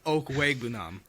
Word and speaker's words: Okwuegbunam: to show off that I know how to pronounce the name. So I'm going to take Albert Okwuegbunam, Yes.